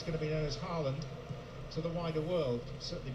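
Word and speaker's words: Haaland: Another curiosity that he was Holland and Earling is Harland.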